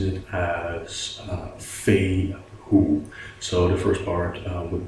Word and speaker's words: Fehu: 8:1 pronounces it as feign who saw the first part would be like Faye as faithful as in fairings the second part would be pronounced as the word who who get it I